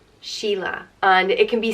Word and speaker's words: Sheila: and it means musical and as pronounced she la Sheila and it can be